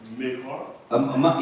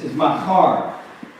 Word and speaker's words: Machar: So if you got a Hebrew mind, you know that's a ma, and there's no it's makar, right? There's no there's no I, right?